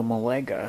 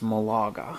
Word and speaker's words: Malaga: Plastic Chair World, and it said, "Hey, I thought you might like to know Molega is actually pronounced Malaga."